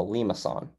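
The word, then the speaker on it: limaçon: an example of a lima sun so here it's like lee ma if you'd like the pronunciation okay and there's one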